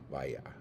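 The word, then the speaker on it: vieja: Ropa Vaya V, because you don't say ja, it's like ha, like ya. Vaya.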